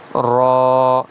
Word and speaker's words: را: جاتا ہے، دال، ذال۔ را کی ادائیگی میں الف ہے اسی لیے اسے کھینچ کے پڑھا جائے گا ایک الف کے برابر، را۔ ایسے ہی زا۔ سین